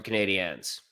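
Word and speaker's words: Canadiens: from the name L Canadians so the proper pronunciation of is the Montreal Canadians I mean the arena is so loud yep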